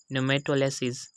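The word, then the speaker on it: pneumatolysis: Second example है हमारे पास न्यूमेटोलिसिस। तो यहाँ पर भी हम देख सकते हैं कि एन से पहले पी आ गया तो यहाँ पर भी हमने पी को साइलेंट कर दिया है, और इसकी प्रोनाउंसिएशन होगी न्यूमेटोलिसिस। उसके बाद है थर्ड एग्जांपल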